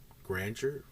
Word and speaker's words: grandeur: exudes a sense of grandeur I don't think I said that right grandeur grandeur yeah Grandeur okay sounded so wrong when I said it for some reason Grandeur okay the house